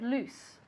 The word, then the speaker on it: loose: what's the opposite of loose the opposite of lose is tight okay now be careful with the pronunciation of loose okay it's with an S sound because if we say a z sound what what does it